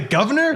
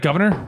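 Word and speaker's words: Gouverneur: Oh God, it's a governor? Yeah, apparently. Oh, I Or feel it's spelled weird. Is that governor or is that something else? Governor. Governor. That's like governor. I'm Governor.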